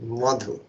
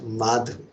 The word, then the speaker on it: Madhu: You have to be careful with the pronunciation, Madhu, not Madhu. Then another meaning will come.